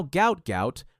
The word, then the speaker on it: Gout Gout: His family name was originally transliterated as Gua or Guat, but now Gout Gout, pronounced to rhyme with pout, is the name the world knows, and it's becoming one that track and field will never forget.